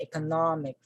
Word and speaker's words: economic: economic economic not make so it ends with the suffix ic okay so with that the stress falls on this syllable we say economic economic then we have dedication